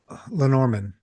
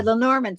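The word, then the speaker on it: Lenormand: the Len Lenorman. Boy, I don't even know how to say it. Lenorman. There. Lenorman.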